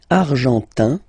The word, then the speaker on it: argentin: And then l'Argentine, argentin, in, gives you this un sound.